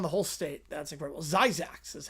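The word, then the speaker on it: Zzyzx: Zyzax is how it's pronounced.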